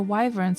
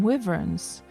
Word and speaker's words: wyvern: kept calling the wyverns, I kept calling them wyverns. I didn't know how to pronounce it, and then only after that I looked on online, like, to listen to how you're supposed to pronounce them. It was wyvern all along.